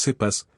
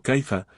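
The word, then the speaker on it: Cefas: o pertenezco a caifa sé que es sepas que es hifas verdad Pero caifa creo que es la única pronunciación aceptable del nombre de Pedro o pertenezco a Cristo así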